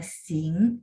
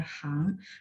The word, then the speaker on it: 行: Jadi teman-teman kalau masih ingat, ini huruf punya dua baca, bisa baca sing, bisa baca hang, tergantung konteks.